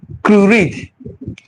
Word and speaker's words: Crewe-Read: So I'm going to read about what they documented about the death of Curid. Curid is spelled Crewe-READ.